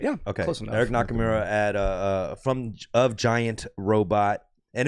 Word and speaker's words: Eric Nakamura: We got Eric Nakamura. Am I pronouncing that right? Yeah. Okay. Close enough. Eric Nakamura at of Giant Robot.